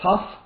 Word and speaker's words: tuff: a rock is called a tough there's various kinds of them t-u-f-f by the way is how you spell that not not the t-o-u-g-h this is and in